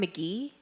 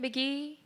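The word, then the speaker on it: Mk.gee: I just found McGee H. He's this like rock. Yeah. Yeah. Yeah. Yeah. Yeah. You know who I'm talking about. He's like this like alternative rock person. McGee.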